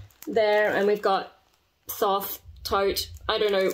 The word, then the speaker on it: Thoth: I always pronounce it Thoth in my head, but apparently Tote if you watch Crash Course Mythology.